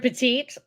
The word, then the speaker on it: Pettit: whatever you I mean he pronounces it Pettit you are correct if he was going by the fr the French the French pronunciation oh it's been a long day guys the French pronunciation it would be peti um but you know